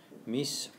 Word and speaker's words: mis: And crucially, that S is always pronounced in Spanish. Again, unlike in French, if that's a language that you've learnt, where the S on the end of me is often not pronounced.